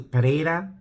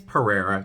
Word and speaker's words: Pereira: Apparently, it's closer to Pereira, I guess. Someone could correct me. But when I hear Pereira, it just sounds like the word potato in Boston. I'll have a baked potato, so it's Pereira to me.